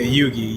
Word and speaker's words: Yugi: I think it was Yuji. What's up, Yuji? Is that how you pronounce it? Yeah, Yugi.